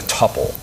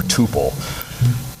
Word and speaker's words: tuple: store things in a tupple or Tuple not sure what pronunciation you like I'll stick with tupple um basically TPP just